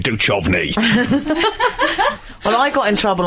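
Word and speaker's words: Duchovny: that the pronunciation was David du chovy than David du she got really act like borderline violence calling people it's David doovy well I got in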